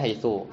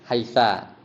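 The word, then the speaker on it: حيث: Sebagian dialek bacanya haitsu, sebagian dialek bacanya haisa. Ketika artinya ya, sebagian dialek bacanya haisi. Tapi haitsu haisa haisi bukan gara-gara amil.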